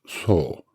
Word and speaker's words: 僧: And the second is pronounced so, which was and still is a general term and one of the characters used for Buddhist monks and priests.